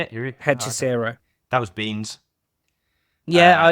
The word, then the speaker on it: Hechicero: So I had MJF and Herencho, is that how you say it? Hechicero.